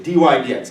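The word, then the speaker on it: dy/dx: No, you need to know how to say it. It's dy dx. That's how you say it. So I'll say dy dx. Everyone knows I mean dy divided by dx, and everyone knows I mean, oh, that's the slope of the tangent line. Right? So it's pronounced dy dx.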